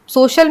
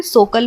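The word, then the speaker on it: social: अगर आई ए आए जैसे सोशल में क्या है एस ओ सी आई ए एल सोशल में सी के बाद क्या है आई और ए आया है तो इसे हम श की ध्वनि देंगे यानी सोल हम इसे सोशल नहीं पढ़ेंगे और ना ही हम इसे सोकल पढ़ेंगे हम इसे श की ध्वनि देते हुए सोशल पढ़ेंगे वैसे ही यहां पे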